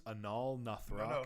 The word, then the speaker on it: Anaal Nathrakh: We've got, how do you pronounce this? Anaal Nathrakh, No.